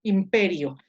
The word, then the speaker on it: imperio: La penúltima sílaba es RI. Pero esta, como es breve, tiene que ir en gris, entonces la sílaba tónica es P. Esta es la sílaba tónica. Imperio. Imperio.